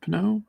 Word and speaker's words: Pinot: Pinot? I can never pronounce his last name. Pinot. Like He's going to be the wine.